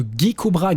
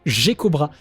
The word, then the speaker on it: Geckobra: ascensions, je parle de "Gueckobra, Gueckobra, Gueckobra" et il n'y a personne qui m'a repris là-dessus quoi ! Terrible ! Non non, cet ennemi s'appelle bien le "Geckobra", ce qui est terrible parce